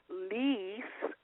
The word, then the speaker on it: Liis: Magazine online 14 plus fashion editor let's welcome leas to the show hello shenise how are you I'm wonderful now am I pronouncing your name right I always mispronounce it